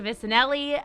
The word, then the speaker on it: Vicinelly: And speaking of guests, I'm super excited to welcome Amanda Vicinelly.